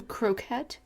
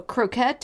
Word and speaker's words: croquet: golf out right some croquette anyone i say croquet but i just laugh because that's how patrick swayze pronounces it on dirty dancing multiple croquette and whatever he says